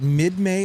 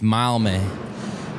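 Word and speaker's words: Mildmay: Mild May. Mild May. Close. It's uh so yeah it's mild May but if you're from Mild May you don't pronounce the D. So it's Mile.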